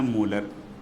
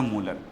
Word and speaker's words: molar: और इनका प्रोनाउंसिएशन होता है मोलर। इन्हें पढ़ा जाएगा मोलर।